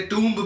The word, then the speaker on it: tomb: वी can call it अ टॉम। So it's लोग उसे टूम्ब भी प्रोनाउंस करते हैं।